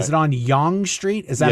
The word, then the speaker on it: Yonge Street: Is it on Yonge Street? Is that how you pronounce it?